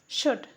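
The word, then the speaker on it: should: पढ़ा नहीं जाता है शुड यहां पे भी एल साइलेंट है शुड का मतलब होता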